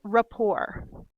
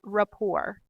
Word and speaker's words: rapport: word number seven is Rapport that's not report don't pronounce the T you want to say Rapport if you're the owner